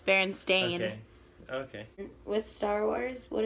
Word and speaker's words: Berenstain: Is it Berenstain Bears? Well, I just think most people just say Bernstein. It's It's spelled Berenstain, yeah, but it's just people always. No, it's Berenstain.